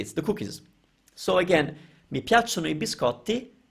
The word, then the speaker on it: piacciono: I'm not going to say how a lot of people are mispronouncing it because I don't want you to hear it, but it's piacciono. So we're stressing the piacciono, piacciono.